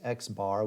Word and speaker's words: x-bar: notation we use is x-bar which is an x with a horizontal line over it we pronounce that x-bar and the sample standard